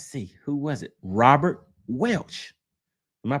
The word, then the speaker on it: Welch: Robert Welch. Am I pronouncing that right? Welsh.